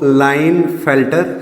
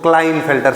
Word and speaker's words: Klinefelter: देखो, कुछ इसको क्लाइन पढ़ते हैं, कुछ इसको लाइनफेल्टर सिंड्रोम पढ़ते हैं, कुछ इसको क्लाइनफेल्टर सिंड्रोम पढ़ते हैं। जो आपको बेटर प्रोनाउंस लगे, ठीक है ना, वैसे आप कर सकते हो।